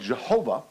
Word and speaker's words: Jehovah: on the name of jehovah or better the yhwh it's it's not pronounceable we pronounce it jehovah or yahweh um based on which which school of thought the dramatic line of languages